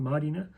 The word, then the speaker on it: Mariner: Then we've got their captain versus our captain, Raymond Faitala Mariner. The Māori pronunciation for Marina.